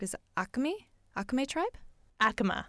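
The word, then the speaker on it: Acoma: You were saying, so remind me if the pronunciation is correct, is Akami? Akame tribe? Akama. Akama.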